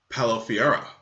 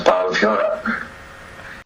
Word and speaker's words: Paolo Fiora: to introduce my guest, Paolo Fiora. Hello, hello everybody. Yeah, that's Paolo Fiora. And I have to ask, okay, so I say it right. It's correct. Oh yeah. It sounds pretty Italian, yeah.